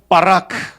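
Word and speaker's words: ברך: 한번 발음해 볼까요? 바라크.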